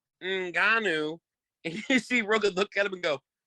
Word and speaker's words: Ngannou: He calls him Naganu, Nunu, Namana, cannot pronounce his name at all. At the end, the announcer, Mr. Buffer, says Francis Ngannou, and you see Rogan look at him and go, shit.